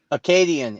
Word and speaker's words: Acadian: Acadian is how you pronounce it.